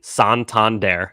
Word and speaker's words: Santander: Pronunciation, Santander.